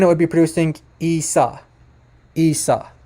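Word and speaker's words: عيسى: Isa Isa not Isa listen carefully to to the pronunciation it it would have to be now this would be Isa Isa and and it's not listen to that to that gutural at the beginning that's very important and that's a huge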